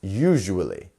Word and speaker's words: usually: usually four syllables there so which one is our stress syllable usually well we have our punctuation here which shows us it's usually it's our first syllable here usually and we also have our lengthen vowel here so it's U you usually it's not a quick usually or usually usually very good nice